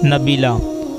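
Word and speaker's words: Nabeelah: बी ए एच ए टी नबाहत नाम है नबीला नबीला की मानी है शरीफ और मुअजज़ और इसकी स्पेलिंग है एन ए B double E एल ए एच नबीला नाम है नाफिया नाफिया की मानी है नफा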